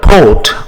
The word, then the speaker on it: port: D SAR the word port or Harbor in French it is called po we don't pronounce the T we just say po the word airport in